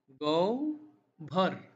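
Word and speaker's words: গহ্বর: শব্দ যেটা দেখছেন গহবর সেটার সঠিক উচ্চারণ হচ্ছে গৌ ভর গৌ ভর এর কি উচ্চারণ গৌভর নাকি গহবর সঠিক উচ্চারণ গৌভর তো বন্ধুরা কমেন্ট করে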